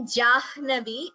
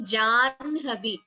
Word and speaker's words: जाह्नवी: Anuradha Bhagini, there the Janhavi pronunciation should be more clear. It should not be Jahnavi. The ha is not heard first. It should be Janhavi. The na should be heard first, followed by ha.